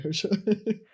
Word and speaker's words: Harsha: like it's Harsha. not like harsh. Harsha. How do you say harsh? Like the word like Hush. my name's not Harsha. Right? It's like Hurs. I guess.